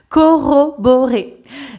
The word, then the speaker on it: corroborer: validité de leurs hypothèses corroborer beaucoup de r ici corroborer donc quand il y a de r comme ici dans ro on le on prononce de la même manière que s'il y en avait seulement un corroboré corroborer corroborer et donc corroborer c'est